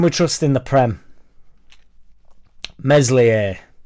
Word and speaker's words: Meslier: trust in the Prem meslier silent s angry madgav loves Sam